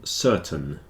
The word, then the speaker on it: certain: continue curtain and certain the AI sounds a bit like e in these two words curtain certain the reason is the stress is on the first syllable so the second syllable tends to get contracted down a bit and in this case it's a little bit like an e curtain certon whereas these